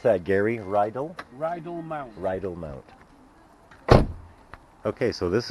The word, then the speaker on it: Rydal Mount: How do you pronounce that, Gary? Rydal? Rydal Mount.